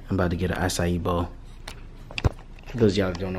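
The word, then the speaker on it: açaí: It's pronounced acai bowl, but that shit is spelled weird.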